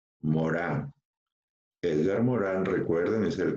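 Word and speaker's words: Morin: propuesta de Edgar Morán se escribe Morín pero se pronuncia Morán Edgar Morán recuerden es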